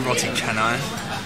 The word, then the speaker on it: roti canai: It's actually roti canai. We've been saying it wrong the whole time because he just said, he repeated after me, roti canai. I was like, oh no, I've been saying roti canai.